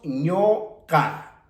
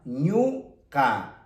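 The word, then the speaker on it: ñuqa: Y dijimos que en la presencia de esta consonante Q, esta vocal que tenemos como U, tiene que pronunciarse como O. Entonces, decimos ñoca, ñoca.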